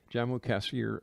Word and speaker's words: Jammu-Kashmir: of his true purpose while posted at the Jammu-Kashmir. Is that how you say it, Jesse? That's correct. Jammu-Kashmir frontier.